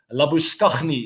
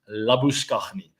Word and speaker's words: Labuschagne: Labuschagne is how you pronounce it, by the way.